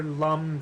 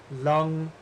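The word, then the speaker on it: लं: Lam, Vam, Ram is actually pronounced Lang, Vang, Rang.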